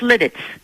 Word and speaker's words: Lititz: this can't Lititz Pennsylvania how you pronounce where you are it's lit its limits good yes good